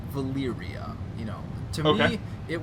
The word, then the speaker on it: Valeria: So I pronounce that Valeria. Valeria. Not Valyria. Yeah, which is very, very similar, but I see how you're distinguishing the E from the Y.